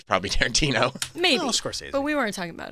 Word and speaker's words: Scorsese: Maybe if your name ends in a vowel. Some people say like Scorsese. Scorsese. Right? So I was like, Scorsese.